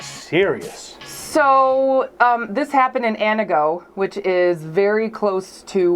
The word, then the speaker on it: Antigo: Not pronounced Antigo, as I found out when I first moved there. Yes, it's Anago, Wisconsin.